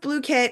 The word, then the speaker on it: Blooket: It's pronounced "bloo-kit."